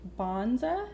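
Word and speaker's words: Banza: I'm pretty excited about its bonza that's how you say it rotini it made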